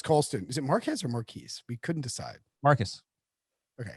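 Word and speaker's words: Marques: had marquis marcus carlson is it marquez or marquise we couldn't decide marcus okay m-a-r-c-u-s is how you pronounce it marcus marcus colston i can't remember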